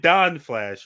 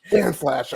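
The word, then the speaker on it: Dan Flashes: You said Don Flash, right? Dan Flash. Anyway, don't spell that wrong. If you wrote Dong Flash, it's not Dong Flash.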